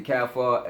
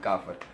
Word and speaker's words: Kaffir: The Americans say Kaffir, and we African people say Kaffir.